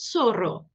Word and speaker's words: Zorro: em toda a América, o Z e o C diante do E e do I se pronunciam como o S. Então, esses dois exemplos anteriores ficam Cecília e Zorro.